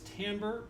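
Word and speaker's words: timbre: Uh, the word is tambber, but we spell it with an i for some reason.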